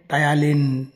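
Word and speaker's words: ptyalin: टायालिन नामक एक एंजाइम से टायालिन स्पेलिंग कौतर आरंभ पी रु आरंभ PTYLIN टायालिन हाँ तो बर्तमान देख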